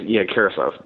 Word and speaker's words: Karasev: Like kerosene, Karasev. It's almost perfect.